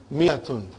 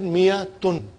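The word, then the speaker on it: مائة: Miyatun. I wrote alif, but I did not pronounce.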